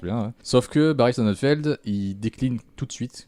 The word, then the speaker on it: Sonnenfeld: Schoenfeld Sonnen. Sonnen. S-O-2-N. Pas Shonen. F-E-L-D. Ouais. Barry Sonnenfeld, ce type-là, c'est celui qui a réalisé La Famille Adams, qui a beaucoup marché.